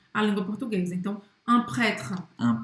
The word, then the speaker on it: prêtre: Presta atenção que o E no final de prêtre a gente não vai pronunciar. A pronúncia da frase se conclui no R.